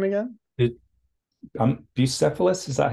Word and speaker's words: Bucephalus: Bucephalus, is that how you pronounce it, or Bucephalus?